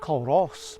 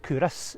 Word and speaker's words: Culross: F's gorgeous Coastline now I was calling it K Ros but aparently cus is a way to pronounce it correctly this place reminds me